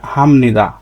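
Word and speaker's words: 합니다: এভাবে লিখতে হবে কিন্তু উচ্চারণের সময় আপনাকে এভাবে উচ্চারণ করতে হবে হামনিদা আপনি যখন লিখবেন লিখবেন তখন এভাবে লিখতে হবে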